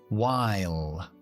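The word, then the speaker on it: while: pronunciar esa palabra pues la e mágica al final que no se pronuncia hace que la i delante de la consonante l se pronuncia como en el abecedario que es ae así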